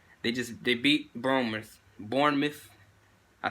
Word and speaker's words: Bournemouth: no they just they just de beat boomers Bournemouth I said it right that time I loving